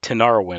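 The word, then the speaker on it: Tinariwen: that i think are just amazing albums uh tanara win and i'll spell it for you it's thank you t i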